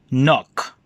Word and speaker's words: knock: sounds us hmm hmm therefore we're going to have a silent K sounds you are not going to pronounce or we will not sound letter K in the beginning example knock-knock hmm knock night hmm night not